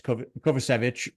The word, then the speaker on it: Kovacevic: It's Kovacevic. That's how I say his name, and he's American, so we should learn it for sure.